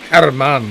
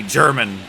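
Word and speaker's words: Germán: Herman. We were right. It's that Spanish inflection. I knew it wasn't going to be German.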